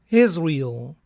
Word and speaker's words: Israel: Unidos, debido a que la pronunciación del nombre es Israel y se asemeja a es real, es real.